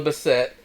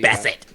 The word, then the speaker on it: Bassett: There's a scene where Tay Diggs and Angela Bassett, I'm not sure how I pronounce her name correctly. Bassett.